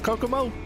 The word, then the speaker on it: Kokomo: Oh, Kokomo.